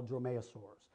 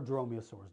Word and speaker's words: dromaeosaurs: belong to a family scientifically we call dromaeosaurs or dromeosaurs depends on how you pronounce the word um all members of